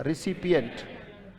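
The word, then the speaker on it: recipient: रिसिपिएंट। अंट उसमें जोड़ा गया तो क्या बना, रिसिपिएंट। हम स्पेलिंग देख सकते हैं, रिसी कैसे पढ़ा, RECI, पीए कैसे पढ़ा, PIE, और अंट कैसे पढ़ा, NT, राइट।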